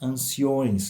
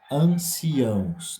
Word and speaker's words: anciãos: passado e anciãos cuidado porque às vezes nós ouvimos Anciões que é uma forma uma palavra que não existe então está errada essa forma de pronunciar e aqui na leitura anciãos então cuidado na pronúncia dessa palavra também cuidamos aqui com